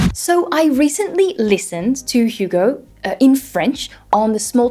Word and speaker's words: Hugo: introduce himself as Hugo hi I'm Hugo not Hugo so he has a really nice H he also had a